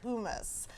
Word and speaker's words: humus: And it's spelled like hummus, but it is pronounced humus.